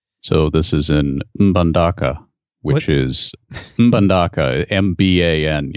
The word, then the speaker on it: Mbandaka: So this is in Mbandaka, which is Mbandaka, M-B-A-N. I think that's how it's pronounced. You pronounce the M? I think so. I think you just say Mdaka.